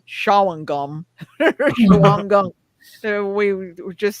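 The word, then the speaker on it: Shawangunk: the time there's the you're not going to pronounce this right shaum Shang Gunk we just say Shang Gunk mountains Al which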